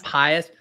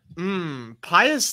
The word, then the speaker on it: Pius: It's like Pontius Pilate, it's trying Pius. I bet this is some random ass Degrassi character. Pius does kind of sound like a French Canadian actor, doesn't it?